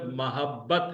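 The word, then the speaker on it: محبت: जो लफ्ज है उसमें मीम पर जबर है सही ल मोहब्बत है ठीक है सिंदी में भी उसको मोहब्बत ही प्रोनाउंस किया जाएगा मीम पर जबर और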